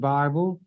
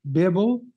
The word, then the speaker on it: Bible: mad at you because you mispronounce it Bible and you're going to be mad at me because I pronounce it correctly Bibble excuse me I pronounce